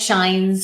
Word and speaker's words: Schijns: Uh Shines. I always repeat my last name because people think it can't possibly be pronounced that way and yet it is. Uh and so it's like moonshine sunshines. Shines.